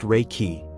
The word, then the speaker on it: Reiki: Reichi, pronounced Reiki, is a Japanese energy healing technique developed by Miko Yui in the early 20th century.